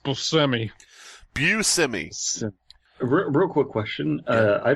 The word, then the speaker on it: Buscemi: By the way, there is a bar here where Steve Buscemi was stabbed in the neck.